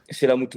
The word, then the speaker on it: Chellamootoo: et le nom, ça va, j'ai bien prononcé, Chelamuto. Chelamuto, ouais, avec 4 O.